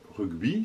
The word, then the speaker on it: rugby: sport le rugby non c'est pas le bon nom que rugby ça se prononce rugby parce que ça s'écrit rugby365 pas le rugby alors c'est